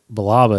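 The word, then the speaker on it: Billaba: Deepa balaba Baba which Baba is how I balaba is how it's pronounced therea balaba DEA DEA balaba so who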